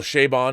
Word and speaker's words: Chabon: Michael Chabon, and that's how you say his name because he says it that way.